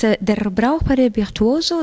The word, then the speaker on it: Der Brauchbare Virtuoso: Now, this Brauchbare Virtuoso is, do I pronounce it correctly? It's Der Brauchbare Virtuoso.